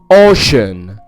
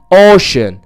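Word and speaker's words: ocean: طب الكلمة دي شوف كده اوشن. اوشن ليه نطقتها شاء ما نطقتهاش سا؟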